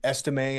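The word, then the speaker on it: Estime: know of his name like estim I believe is the correct way you know it sounds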